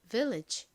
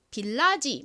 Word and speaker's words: village: 자는 AG 소리 나죠 연결하면 Village 됩니다 Village이 덩어리 소리가 무슨 소리가 나는지를 모르고이 단어를 읽으면 빌라지 뭐 이런 식으로 많이 읽으시는데 빌라지 아닙니다입니다 따라해 보세요 좋습니다가 뭘까요